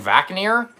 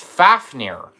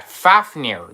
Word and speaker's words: Fafnir: No, it's Fafneer. Like Fafner, the dwarf got turned to. Yeah, Fafneer. That's That's how you say his name. Not Vakir. FAF as like F and like four and then near. Fafneir.